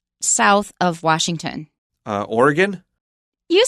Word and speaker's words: Oregon: is that state right south of Washington uh Oregon you sound like a native how do you say it the way we mostly say it in the midwest is Oregon Oregon oh yeah or Oregon I I Oregon